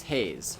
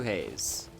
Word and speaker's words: Hayes: Yeah, so many people pronounce it Haze, and it's also entirely on me. But if you can read katakana, you can see that in my logo, that's how it's supposed to be pronounced.